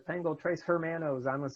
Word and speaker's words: hermanos: In my class, if you pronounce an H that should not be pronounced, which is basically all of them, I will stop class, because if there's one letter that's easy to pronounce properly, it's H.